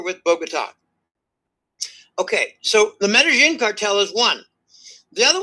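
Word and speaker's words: Medellín: Okay, Medellin, but it's pronounced Medellin.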